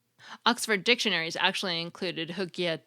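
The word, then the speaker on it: hygge: emotional well-being unquote Oxford dictionaries actually include Ed hooka 2 and their definition notes that it's regarded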